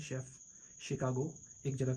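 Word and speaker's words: Chicago: जैसे मशीन इस तरह शेफ कुकिंग एक्सपर्ट जो होते है शेफ शिकागो एक जगह का नाम है कैशे।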